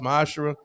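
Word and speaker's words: מעשר: Tithes, which is a commandment, you can find this in Numbers 18:21, Malachi 3:8-10, means 10th in Hebrew, it's pronounced ma'ashra.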